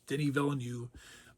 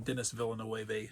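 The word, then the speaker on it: Villeneuve: vill and and yes I know his name is Denny villanu I pronounce him Dennis villain on purpose because I think he's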